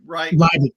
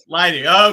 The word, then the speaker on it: Leidig: Did I get that pronunciation right? Leidig, long I. Leidig.